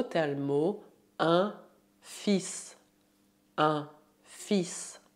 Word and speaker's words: fils: Para falar de filho, usamos o termo un fils. Un fils. Prestez atenção na pronúncia, o L é mudo.